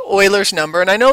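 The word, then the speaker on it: Euler: It's actually called Oilers's number. And I know this word here, Uler, it looks like Uler like Buler, but Uler, but it's not. It's Oiler is how it's spo pronounced.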